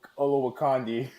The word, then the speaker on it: Olowokandi: still know how to say it Michael although Olowokandi oh yeah you got ya okay got it